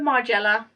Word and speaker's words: Margiela: the last bit so i would say my gilia and i'm going with margella because that's how i